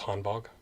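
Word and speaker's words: Hanwag: the Han bog boots I think it's pronounced hanon bog cuz V's are W in German to some degree I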